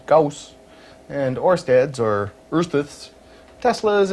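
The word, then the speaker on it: Gauss: Well, there's Goss, which my encyclopedia pronounces Gaus, and Orsteads or Earths,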